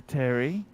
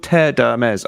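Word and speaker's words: Terre d'Hermès: i got hermes mazda terry terry odemez i love terry i love the way you pronounce that it's called tear dermes archie but you have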